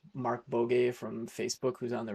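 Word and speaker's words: Markbåge: like Sebastian, I think his last name is pronounced Mark Bogue from Facebook, who's on the React team.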